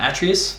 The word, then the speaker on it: Atreus: And this is largely brought about by the presence of his son Atreus. I believe that's the correct pronunciation, correct me in the comments if I'm wrong.